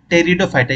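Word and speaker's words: Pteridophyta: algae फिर ब्रायोफाइटा है फिर टेरिडोफाइटा इसमें पी जो है साइलेंट रहता है ठीक है तो ये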